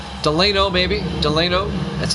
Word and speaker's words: Delino: Delino or Delino. D-E-L-I-N-O. I don't know how you pronounce that.